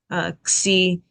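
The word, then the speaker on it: ξ: So, xi sounds like a kappa, sigma, ks, x, or a gamma, sigma, x.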